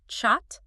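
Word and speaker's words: kyat: The kayak pronounced chhat.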